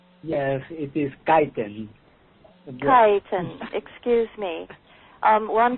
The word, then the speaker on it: Kaiten: K Kon I believe that's the way you pronounce the last name is that right yes it is kiten kiten excuse me um Juan Carlos is from